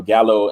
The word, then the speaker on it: gallo: and uh you know gallow in spanish is actually pronounced gallo and it means rooster oh yeah i mean